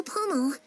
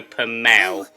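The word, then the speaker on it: Pommel: what's your name Pomo who are you yeah this is another mistake here she actually mispronounces her last name it's actually pel and the reason it's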